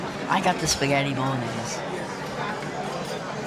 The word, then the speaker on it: bolognese: We say bolognese with a long a for the e.